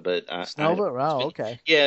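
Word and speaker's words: Снова: I think they pronounced it Snova, but Snova?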